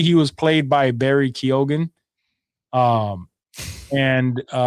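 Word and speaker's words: Barry Keoghan: Yeah, that's what I Yeah, Kogan. This whole time people have been saying Keegan and that's wrong.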